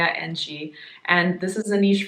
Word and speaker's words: Njie: video and I'm wrong apparently pronounce Maya Angie and this is a